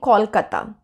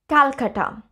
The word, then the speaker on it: Calcutta: the English pronunciation so for example Calcutta please don't say Kolkata please please say Calcutta the reason that we